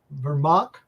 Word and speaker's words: Vermaak: say this wrong but I'm gonna try vermac is that close well done oh whoa I